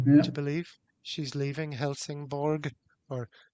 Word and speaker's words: Helsingborg: She's leaving Helsingborg or Helsingborg, as I think it's more correctly pronounced, tomorrow.